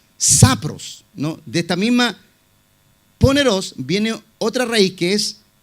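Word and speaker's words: πονηρός: usa la palabra poneros no poneros con acento en la el lado para la parte final poneros qué significa lo primero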